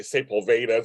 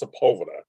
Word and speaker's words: Sepulveda: Sepulveda there's only one people say it wrong people say Saint Paul Vedas it's Sepulveda that's how you say